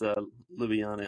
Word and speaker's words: Ljubljana: He's Slovenian, and it's Ljubljana.